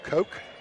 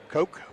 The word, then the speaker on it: Koch: game re-enters and uh brandon coke is that how you pronounce that k-o-c-h uh coke well in wheelersburg it was cooked is it yeah it was cook's hard work andy's saying yes you know like the koch brothers i'm saying wheelersburg there